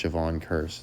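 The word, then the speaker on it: Jevon Kearse: So, of course, Javon Curse, it's like the word curse, but they spell it different, so you don't think of it.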